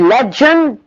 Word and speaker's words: legend: The word legend is pronounced with the African j, not the fricative j.